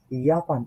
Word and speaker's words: Japan: জি commode আউস ইয়াপান, এটা কিন্তু জাপান, বাট ইয়াপান করতে হবে কেন?